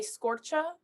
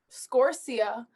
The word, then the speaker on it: Scorcia: thing is is that my last name is pronounced differently by everybody in my family and i haven't decided if i wanted to say scorcher scorsia or scorsha and i was going